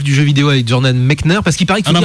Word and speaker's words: Mechner: alors est-ce qu'il faut dire Jordan Mechner ou Mechner? Et du coup, je lui ai demandé directement, il m'a dit Mechner. Donc voilà, c'est officiel. Donc le papa de Prince of Persia a une prononciation une et unique.